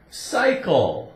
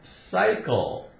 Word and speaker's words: cycle: small town but city here we have C Y C Y cycle cycle as in word by cycle or bicycle but here by itself is cycle okay see why cycle now when does he